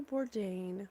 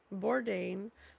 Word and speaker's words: Bourdain: I mean, Bourdain. So, that's funny that it rhymes with ordain.